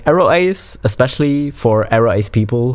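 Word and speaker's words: aroace: It is not Arawache. It's Aro Ace. Fuck. Okay, but this is one of the things. It's just way more fun to say Arawache than Aro Ace. Like, Aro Ace, especially for Aro Ace people who are good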